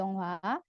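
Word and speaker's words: 영화: ada Uyu Lalu ada yongwa h-nya tidak perlu dibaca dibacanya jadi yongghwa yonghha artinya film kemudian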